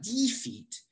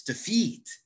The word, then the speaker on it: defeat: you notice that i if you stress the first syllable it's going to sound really weird to people who speak english defeat i'm going to defeat the team it's not defeat it's defeat it's not denounce it's denounce so it's really important to stress the correct syllable letter b yes the